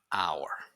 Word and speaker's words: hour: heavy it's house here the H is silent so phonetically it's like the H doesn't exist it sounds like our so you say un hour okay so always pay